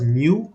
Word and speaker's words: mu: this symbol is Mu mu okay but it's pronounced as Mu it's a Greek alphabet even this one it's